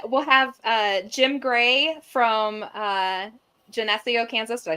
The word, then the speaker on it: Geneseo: So then we'll have Jim Gray from Geneseo, Kansas. Did I say that right? Geneseo.